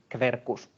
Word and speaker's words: Quercus: Or QU is pronounced Kv, so Quercus would be Quercus, and so on.